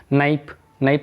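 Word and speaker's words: knife: नाइफ means चाकू, इसमें के साइलेंट है।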